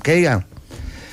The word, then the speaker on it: Cagan: La magnitud la traspasamos, que es un límite académico, digamos, que estableció un estudioso que se llama Philip Kean, que se escribe Kagan.